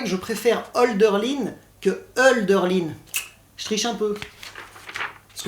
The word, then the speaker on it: Hölderlin: parce que tu vois il ya le tréma sur le haut ce qui fait qu en allemand ça ne se prononce pas haut mais eux alors ce qui est joli aussi hölderlin s'est équilibré entre les